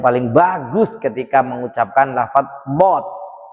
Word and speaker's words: ض: bagus ketika mengucapkan lafadz dho." Nah, jadi ini pengucapannya harus bulat. Dho. Dho. Tidak boleh dzo, dzo.